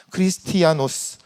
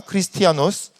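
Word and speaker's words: Χριστιανός: 그런데 우리가 생각해 보면 이 헬라어로 원래 그 발음으로 이야기하면 크리스티아노스라는 발음으로 나아갑니다. 크리스티아노스. 여러분 한번 발음해 보시겠습니까? 크리스티아노스.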